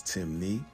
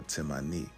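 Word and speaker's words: Temne: Despite the various spelling variations, Timnney only has two ways of pronouncing it, which is Timi or Timmani.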